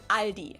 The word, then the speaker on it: Aldi: and say alies in Germany we just say Aldi it has its origins in 1945 when the